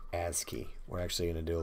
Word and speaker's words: ASCII: lazy don't want to type oh and that's pronounced ASCII we're actually gonna do a little bit more on that here in the near future a ski that's computer for digits and characters when you